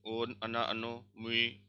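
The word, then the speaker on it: она: या, ती, ओन, अना, अनो, मुई, वी, अनी। देखो सब में स्ट्रेस कहाँ पे है, इसमें अना, आ पे है, सो अना हो जाएगा। स्ट्रेस ओ पे है, अनो हो जाएगा।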